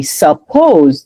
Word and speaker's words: suppose: I told you guys, when you separate it by syllable, you were supposed to say suppose. Sup because this is a short vowel and then this one is a long one. So pose, right? Sup- pose. But because the stress goes right here, the other syllable it's not stressed. So then that's when you get the schwa sound. It's reduced. So then you say suppose.